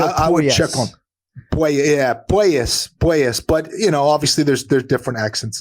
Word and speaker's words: Puelles: might be Puelles, not Puelles. Yeah, so it is more of a poi than a poo. You're right. Claudio Puelles. I would check on Puelles.